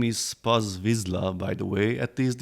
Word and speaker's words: vizsla: Hungarian dog breed, and the correct pronunciation is vizsla. Z & S together in Hungarian is "zsé", just like in my name which is Balázs. If it would be s & z, then the pronunciation is "sz".